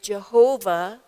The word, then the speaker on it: Jehovah: Now, we used to translate it Jehovah, 우리가 번역할 때는 여호와라는 단어로 번역해 사용했는데요.